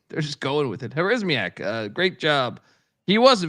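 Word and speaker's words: Harasymiak: Remember, how do I pronounce our guy's name again? Who's the UMass head coach now? Joe Harismiak. Yeah, Harismiak.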